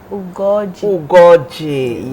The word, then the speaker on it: Ugoji: She told me how to pronounce her name. There's a particular O to the name. Gold Ugoji, yes.